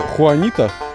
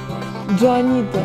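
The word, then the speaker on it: Joanita: Как это читается? Хуанита? Как называется азалия? Не хуанита? Джоанита. Джоанита.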